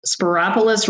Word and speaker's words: Spyropoulos: Spyropoulos rhymes with metropolis.